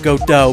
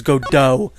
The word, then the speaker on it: Godot: to the third game, I will be pronouncing it Godot, because that is definitely how it's pronounced. If anyone disagrees with me, I will fight you, because his name is Godot.